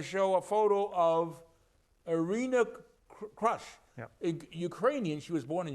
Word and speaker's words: Krush: a photo of irina crush ukrainian she was born in ukraine right they pronounced it fellow ukrainians would say irina krush okay we say crush i think she's she accepts the pronunciation crush because she likes to